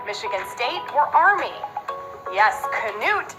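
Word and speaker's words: Knute: Notre Dame playing when canoe Rockne told them to win one for the Gipper Michigan Michigan State were army yes Canute is the Norwegian and proper pronunciation George Gipp was Notre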